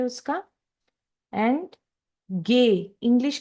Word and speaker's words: Ge: F, English and German का F same होता है, सेम प्रोनाउंसिएशन होता है उसका। एंड गे, इंग्लिश का जो जी हम लोग बोलते हैं उसको जर्मन में हम लोग बोलेंगे गे।